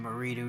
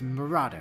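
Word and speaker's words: Marado: Stupid goddamn Marido Knights. I'm quite certain it's pronounced Murado, sir.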